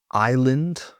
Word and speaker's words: island: Silent s in island. Island.